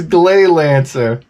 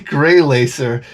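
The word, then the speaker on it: Gley Lancer: oh my god guys it's it's glay lancer it's not grey grey laser it's glay lancer i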